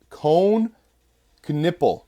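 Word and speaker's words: Knueppel: We then have number 9 is Cone Knipple. That's what I found online how to pronounce it.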